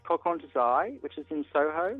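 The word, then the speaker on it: Kokon To Zai: It's from a shop called Coq Desai, which is in Soho. It's called what? Coq Desai.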